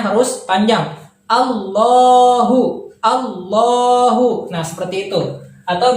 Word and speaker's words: الله: tertidur atau kata yang dari strip seperti itu allohu namun cara bacanya harus dipanjangkan dua harokat ya di sini terlihat tidak panjang namun cara cara penulisannya tidak panjang cara bacanya harus panjang allohu allohu nah seperti itu atau bisa kita tulis